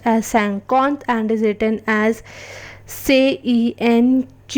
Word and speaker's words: cinquante: 50, which is pronounced as Cinquante and is written as CENQURNTA.